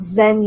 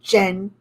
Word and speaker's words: Zhen: Not that anybody cares, but if there's somebody has the name with a Z-H in it, in Chinese, it's not pronounced Z, it's pronounced like J. So not Zhen Yi, it's like Jen.